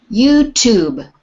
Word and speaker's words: YouTube: there you to be youtube youtube don't don't pronounce the e on the end the e on the end of the word tube is to make the u sound long if there was no